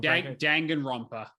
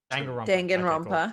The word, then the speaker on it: Danganronpa: Drake, I always pronounce this wrong. Danganronpa. Danganronpa.